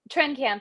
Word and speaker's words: Trenkamp: How do you pronounce it? I'm sorry, Trenkamp? Trenkamp, yeah.